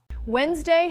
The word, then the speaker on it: Wednesday: Wednesday has a silent D.